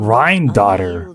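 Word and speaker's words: Rhinedottir: As Rhine-daughter once told me, the laws governing life and death are among the Rhine-daughter is how you pronounce that.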